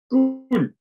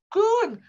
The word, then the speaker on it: Koen: Kuna. Koen, well done.